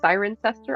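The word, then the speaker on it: Cirencester: learned this week that it's actually pronounced siren sester I thought there was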